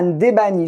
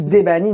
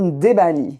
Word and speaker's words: Ndebani: à ma droite Ndebani, j'ai bien dit, hein? Tu as bien prononcé. Ndebani, je n'ai pas dit Ndebani, ni Debani, Ndebani.